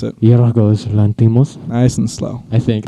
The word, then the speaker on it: Yorgos Lanthimos: It was written by Yorgos Lanthimos and Sorry, repeat that name? Yorgos Lanthimos. One more time, just so everybody knows how to pronounce it. Yorgos Lanthimos.